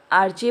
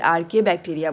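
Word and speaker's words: archaebacteria: आर्चे बोलो या फिर आर्के बैक्टीरिया बोल सकते हो, ठीक है ना, इसका प्रोनाउंसिएशन थोड़ा हटके होता है।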